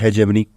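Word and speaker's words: hegemony: देखो, इसको हम ऐसे प्रोनाउंस नहीं करेंगे, इसको हम ऐसे प्रोनाउंस करेंगे, है जी। है जी। क्या है आपके पास? मनी है। हमारे पास है जी मनी।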